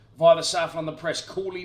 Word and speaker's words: Cawley: Cawley, not Cowley, for the pronunciation police out there.